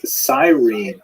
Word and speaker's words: Cyrene: I've looked it up and I've heard it pronounced as Cyrene in English. In Greek, it would have been something like Kurene.